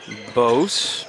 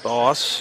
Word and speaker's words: Boss: Dyke back to Bose. Boss. I think it's Boss. I've said it wrong.